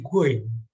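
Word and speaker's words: غين: Huruf Ghin ini menjadi Goin. Tulisannya dan bacanya seperti ini.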